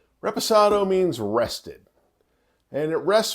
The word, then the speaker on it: reposado: vanilla Oak and honey is probably the most mispronounced of the three often called a respirado people it's tequila it's